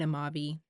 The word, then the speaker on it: Amavi: I'm getting it correctly I looked it up while editing it's queen of Maui queen of Maui is her name basically yeah that's their Queen